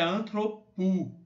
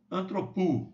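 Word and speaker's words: ἀνθρώπου: Aqui é antropos, aqui é antropu. Ok, gente? Aqui, ó, é um ditongo, um ômicron com um Y. Pronuncia como um U. Então, rema, tu, antropu.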